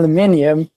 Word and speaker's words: aluminium: in the UK or Sweden I say all alluminium but if I'm with chat or whatever the